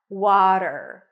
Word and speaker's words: water: a is in Father w w then a flap T and an R water water in American English water and then we